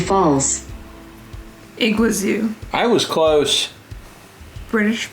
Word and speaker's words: Iguazu: first we need to figure out how to pronounce this iguazu false iguazu i was close british pronunciation it's in south